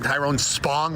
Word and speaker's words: Tyrone Spong: Yeah, the disrespect on Tyrone Spong, which is how you say his name, is unreal.